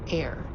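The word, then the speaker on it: AIRE: air starts with this thing with a very mysterious name. Air like air that like that we breathe air.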